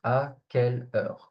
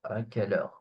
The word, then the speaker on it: à quelle heure: It's pronounced à quelle heure, à quelle heure.